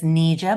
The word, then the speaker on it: Nija: everyone my name is Nija it's pronounced like I need you to do something uh I am the